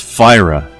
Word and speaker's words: Fyra: No, it's Fyra. There's an R in there. Say it right.